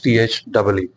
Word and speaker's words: the: The pronunciation becomes THEE.